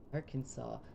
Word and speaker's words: Arkansas: Arkansas, but it's spelled phonetically and not like R. Kansas.